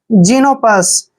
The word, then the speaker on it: Xenopus: और देखिए PUS का उच्चारण हम पस करेंगे, पुस नहीं पढ़ेंगे, पस। जीनोपस।